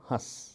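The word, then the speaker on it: हँस: जैसे यदि ह के ऊपर चंद्रबिंदु लगा और उसके बाद स अक्षर आया तो इसे कहेंगे हंस, और यदि ह के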